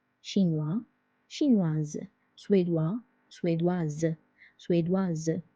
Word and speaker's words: suédoise: Suédois, suédoise, suédoise. Because S is between two vowels, I and E, it's pronounced as Z. Chinoise, suédoise.